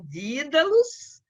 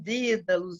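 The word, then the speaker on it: Dedalus: Você tanto pode pronunciá-la como Dídalos, e se você pronuncia como Dídalos, você está na pronúncia inglesa, e você introduz a palavra did, que significa ato de herói, e se você pronuncia na pronúncia irlandesa, você falaria Dédalus.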